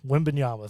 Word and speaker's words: Wembanyama: Wembanyama, thank you.